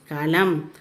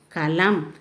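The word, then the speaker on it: कलम: This one is kalam. Kalam means pen. Here the last letter is ma. So you should say as im. Ka la im kalam. Ka la im kalam.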